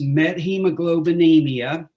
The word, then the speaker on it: methemoglobinemia: It's methemoglobinemia, and it's a derangement in the function of the hemoglobin molecule that carries oxygen to all the cells in the body.